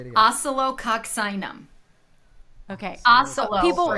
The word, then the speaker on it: Oscillococcinum: Like, Oscillococcinum. Yes. I've always wanted to know how you say it. What? Wait, say it again. Oscillococcinum.